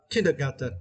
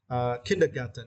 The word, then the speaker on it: kindergarten: Kindergarten. Yeah, for this word you need to stress the first syllable, right? Kindergarten.